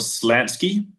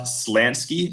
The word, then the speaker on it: Slansky: nice but rather long text by someone called Slansky.